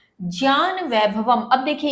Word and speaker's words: ज्ञान: जो उच्चारण करते हैं, आप जो अधिकांशतः सुनते आए हैं, वो आप करते हैं ज्ञान, जबकि इसका सही उच्चारण होता है ज्ञान।